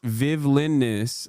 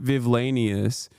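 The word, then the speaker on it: vivllainous: Where it's pronounced Vivlinus, like the word villainous, not Vivlanius.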